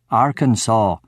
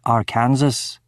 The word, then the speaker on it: Arkansas: It was only in that moment that I realized that the state of Arkansas is actually pronounced Arkansas, not our Kansas.